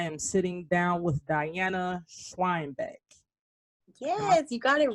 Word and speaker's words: Schweinbeck: sitting down with diana schweinbeck yes you got it right yeah i was gonna ask a lot of people don't say it right so yeah yeah because they assume that h is silent yep exactly gotcha gotcha